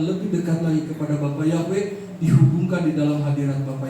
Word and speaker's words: Yahweh: Makanya yang benar itu Yahweh itu benar gitu. W dibacanya bukan kalau mau pakai zaman sekarang Yahweh gitu kan.